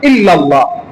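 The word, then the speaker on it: إلا الله: এখানে হচ্ছে ইল্লাল্লাহ লিখতে হলে হামজা লাগে। ইল্লাল্লাহ। হামজা। কিন্তু তারা অন্য একটি শব্দ অন্য একটি অক্ষর উচ্চারণ করে।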